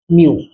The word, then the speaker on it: μ: म्यू। Pronunciation इसका क्या है?